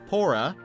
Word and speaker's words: Pora: Her Japanese name, Pora, is the way both Paula and Polar are pronounced in Japanese, referring to the cold climates associated with penguins.